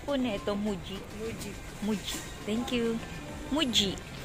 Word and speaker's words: Muji: price France Ayan 995 Ayan mga toys Ma'am pagpronounce po nito muji muji muji Thank you muji yung pagpronounce muji